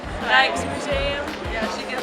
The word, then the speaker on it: Rijksmuseum: Rijksmuseum. Rijksmuseum.